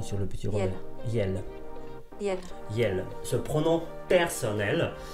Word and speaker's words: iel: Je vais écouter la prononciation sur le petit Robert. Yel.